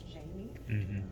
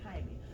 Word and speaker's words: Jaime: The other thing that resonated with me was the microaggressions, specifically when Jaime went to court and the receptionist kept mispronouncing his name as Jamie.